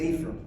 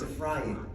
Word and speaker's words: Ephraim: If Ephraim were standing right here, he would say, "Who the heck is Ephraim? It's not how you say it in Hebrew. And if you're from the tribe of Ephraim, it's a frying.